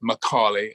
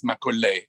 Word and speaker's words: Macaulay: works and if you want to check the pronunciation of my name it's alistair macaulay but when i visited india it was a